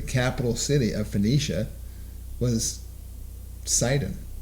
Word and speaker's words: Sidon: it is a phoenician word sidon it's it's pronounced saeed in in their actual language in their language